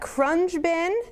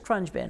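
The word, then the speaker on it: Khruangbin: go to YouTube because the spelling of the band and the pronunciation of the band are 2 different things. So Crunge Bin, could it be I'm pretty sure it's Crunge Bin.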